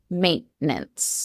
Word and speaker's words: maintenance: The pronunciation in the UK in British English we do pronounce the T.